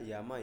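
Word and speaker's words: 山: Ini Yamano, ini harusnya Yama ya, ini ya, maaf ya, ini typo. Oh ya. Ini kalau kanjinya cuma berdiri sendiri kan bacanya Yama ya.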